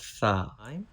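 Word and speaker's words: ث: Let me show you origin of sa. This is tip of tongue. Start using tip of tongue touching with edge of front teeth. From here we can pronounce sa, sa, sa.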